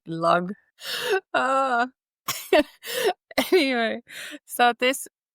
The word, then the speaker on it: Lagg: That's how actually you should say you say it in Finnish because you just read how you say it's like log.